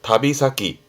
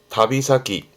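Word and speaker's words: 旅先: 발음은 다비사키, 다비사키.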